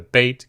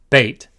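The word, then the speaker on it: ב: Beit can appear with the dagesh. If it does, it is pronounced b, b. If it does not have the dagesh, it is pronounced v, v. With the dagesh, b. Without the dagesh, v.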